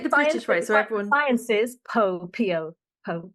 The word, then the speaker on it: Sciences Po: I must pronounce it correctly, because if I say Très Sciences bien. Po, my French friends are like, what? Sciences Po? So I will try to say Sciences Po.